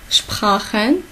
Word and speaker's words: Sprachen: Sprachen. On a dit CH. Avec A, c'est R. Sprachen.